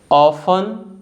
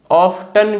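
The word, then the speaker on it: often: के बारे में सीखेंगे the letter T is silent when it comes आफ्टर the letters S एंड एफ जो लेटर है अगर letter S and later F के बाद आता है तो टी साइलेंट होता है फॉर एग्जांपल ऑफ इसको आप ऑफ्टन भी पढ़ सकते हो according to the dictionary ऑफ और ऑफ्टन दोनों करेक्ट प्रोनंसिएशन है सेकंड वन है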